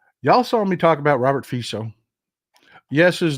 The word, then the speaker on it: Robert Fico: Y'all saw me talk about Robert Fico. Yes, his name is spelled FICO if you're an American, but his name is pronounced Fico.